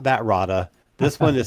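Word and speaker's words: Rahda: No, not that, Roda. This one is spelled R A H D A and it's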